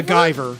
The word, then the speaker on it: Guyver: a Japanese anime it's called the Guyver yeah not MacGyver right it's lighter miss says